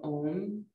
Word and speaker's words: Om: If you are comfortable joining in, it's actually pronounced ah, ooh, and then putting the lips together for that final sound.